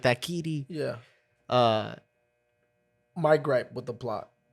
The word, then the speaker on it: Kiri: But I swear to God, I thought it was Kitty the whole movie. Well, they Jesus probably Christ. pronounce it like that, Kiri.